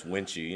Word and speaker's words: Wuensche: oh I'm sure yeah it's wenchy and and uh it sounds a little Asian so so I get